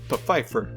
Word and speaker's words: Pfeiffer: Also, there is one more series: The Secret Diary of Desmond Pfeiffer. Yes, that's actually how you pronounce it.